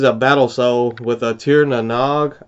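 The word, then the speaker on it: Tír na nÓg: This is a Battle Soul with a Tir na Nog, I believe is how you pronounce that.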